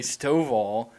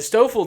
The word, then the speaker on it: Stoffel: No, yeah, you heard it because you heard the wrong pronunciation of what would be Stovall, because Christian used to call him Stovall. Okay. Anyways, the Stoffel dude was pumping like 94, 95 through like 4 innings.